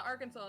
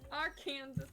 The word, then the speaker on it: Arkansas: Okay, so fun fact, literally in Little Rock, in proper Little Rock, it's illegal to say it like that. It's a state name. It's illegal. Are they gonna arrest you for speaking? Yes! They can't do that. It's considered defamation of the state's name.